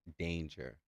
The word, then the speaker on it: D4NIJAH: Oh, and Rap God said it's pronounced danger.